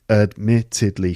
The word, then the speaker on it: admittedly: french okay okay admittedly admittedly four syllables it's the second syllable admittedly all right admittedly